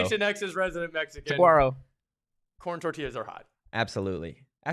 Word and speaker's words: Saguaro: Sharon, that's like a hard G in Saguaro. As PHNX's resident Mexican, Saguaro.